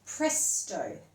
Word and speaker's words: presto: The next word is presto. And you might see or hear that that sounds like the word pressed.